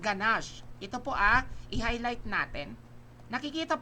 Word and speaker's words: ganache: Ayan, it pronounced ganache. Ito po i-highlight natin. Nakikita po? Ayan, so that is ganache. It pronounced ganache. Hindi siya ganache it's ganache.